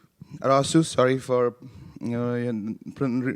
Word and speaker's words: Arasu: your next speaker uh our speaker is rajis arusu arasu sorry for you know mispronouncing your name uh as stubhub's chief technology